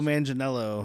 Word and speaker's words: Manganiello: Joe Mangelo, am I saying it right? Yes. Joe Manganiello.